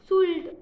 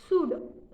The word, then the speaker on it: should: या उसके बाद SHOULD शूट कहते हैं, एल का उच्चारण नहीं करते, ऐसे नहीं बोलते शुल्ड, ऐसा नहीं, हम बोलते हैं SHOULD मतलब शुड।